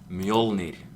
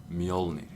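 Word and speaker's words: Mjölnir: little name okay so the way you pronounce Mjolnir is actually this is very important guys this is mule need me Olynyk or a mutiny if you want that's a different dialect and force leitner it's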